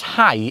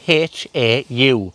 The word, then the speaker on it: hau: that 'Hau' is spelled h-a-u and in many languages the u sound is is formed like a 'oo' or a 'ooh' sound but in Welsh it's it's pronounced as an 'I' sound so 'Dw i'n hau'